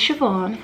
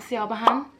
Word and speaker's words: Siobhan: However, it's not Iamsiobhan, it's not Siobhan, it's not Sivi, it's not Shirai, it's not Siobhan, it's just So my name is Irish.